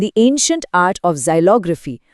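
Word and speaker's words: xylography: जाइलग्राफी। इसका उच्चारण है जाइलोग्राफी।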